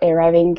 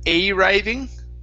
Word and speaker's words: arriving: first up we have the word arriving instead of a writing okay using uh so we're going to use a schwa here all right all